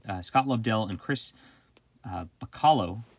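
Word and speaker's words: Bachalo: lobdell and chris uh bacallo i believe is how he pronounces his name i messed it up last time but i think that's it and inked by mark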